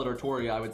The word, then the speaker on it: Artoria: but the reason i i go with artoria for many reasons one that's what they want it to be they just don't know how english works so they're just they're just spelling it wrong right like they literally want it to be artoria which is evident by every character that says the name in any official work ever always saying it artoria um and then having